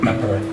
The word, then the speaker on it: Tampere: So that's how you pronounce it, Tampere.